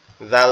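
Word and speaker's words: ذال: ঝুন এই ঝা আর জালের উচ্চারণটা বলে দেই জালটা হচ্ছে হচ্ছে এই যে জাল যেটা এটা হচ্ছে আমাদের জিহ্বার আগা সামনে দুই দাঁতের আগার সঙ্গে লাগবে লেগে উচ্চারিত হবে জাল জাল জাল দুই পেশুন আর এরপরে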